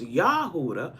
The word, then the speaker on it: Judah: Properly pronounced Yahudah because there's no J's in Hebrew.